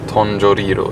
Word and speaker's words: Tongariro: Tongariro uttalar man det.